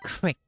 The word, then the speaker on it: creek: barn and it's probably it's not Greek it's it's Crick get it right Wow Let's fake out